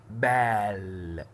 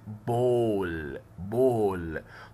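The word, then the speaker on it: ball: ايه، فالايه هنا نطقتها الف ضمة، ما قلتش بال، لا قلت بول.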